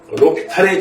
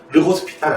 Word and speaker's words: 로피탈: 아 알려주긴 할 거예요 로피탈의 정리라고 하는 겁니다 로피탈의 정리 로피탈의 정리는 뭐냐고요 르 호스피탈이 아니고요 저기 프랑스이기 때문에 요거 h 무음이에요 발음 안나요 안 나와요 르스 피타 아니에요 로피 탈이에요 자 로피탈 장인데 뭐냐면은